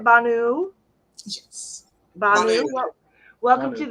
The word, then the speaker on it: Banu: Banu.